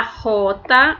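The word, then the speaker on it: jota: que se chama la rota observem aqui que a a própria letra aqui ao ser pronunciada vai ser pronunciada como se fosse no som de R la rota vejam aqui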